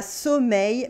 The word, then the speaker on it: sommeil: La fille a sommeil, mais elle part travailler. Here we have a y sound at the end of sommeil for sleep and in the middle of travailler to work.